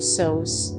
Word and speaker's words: Sheshan: May 24 Feast of Our Lady of Sheshan. History. Our Lady of Sheshan, also known as Our Lady of Sos, being Sos the original Shanghai pronunciation of Sheshan, is a celebrated Marian